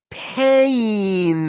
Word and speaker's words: pain: this is a pen but are you in pain now I know I'm doing slow motion but